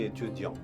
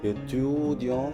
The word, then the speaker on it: étudiant: The first day itself, when we teach the students the sentence Je suis étudiant, the pronunciation we get for the word student is étudiant, étudiant.